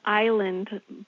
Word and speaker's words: Iland: Well, my last name is island but it's spelled I l a n d.